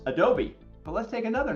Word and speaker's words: Adobe: So one name is Adobe, Adobe, but it's not pronounced Adobe, it's pronounced Adobe.